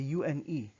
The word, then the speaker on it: une: Now, similar to the one in the feminine form, you circle your lips as if you're about to pronounce an O, but instead you say in, in. So you say une bière, une bière.